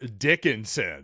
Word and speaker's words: Dickinson: Maybe not since the Morris twins, though, have we seen a piece of work like Hunter Dickinson. And I'm going to really emphasize the first syllable of his last name.